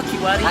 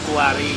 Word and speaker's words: kiwari: Ya, Lamun di Bandung mah Kiwari. Kiwari. Kiwari. Tapi lamun di Banten teh Kuari pakai U. Oh, Kuwari.